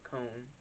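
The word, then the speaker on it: Coen: to say this oh liam cohen excuse me i'm calling a cone to replace kevin o'connell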